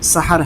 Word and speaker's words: سحر: شام ہو کہ سحر۔ یہ لفظ سحر پڑھیں گے اس لیے کہ یہ عربی کا لفظ ہے اور اس کا صحیح تلفظ سحر ہے۔ نہ اجالے میں ہے